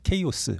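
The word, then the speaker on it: chaos: 영어로 오면서 chos 해서 케오스 뭐 영어로 이렇게 발음하죠 또는 카오스로 발음하고 그래서 K 하면 혼돈의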